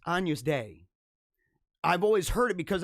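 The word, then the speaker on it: Agnus Dei: referring to somebody in the comments section as agnes day it's not agnes it's anu's day i've always heard it because in my kids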